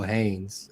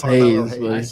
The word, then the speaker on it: Hayes: Well, Roman, Seth, and then Carmelo Haynes as well. Haynes? Or Hayes. Well, we'll help you out here. We'll help you spell it out. It's Hayes.